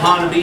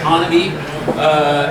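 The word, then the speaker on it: Honobia: There are places, for instance, in Oklahoma, Honaby is how you say that one, right, you guys back there? Honaby.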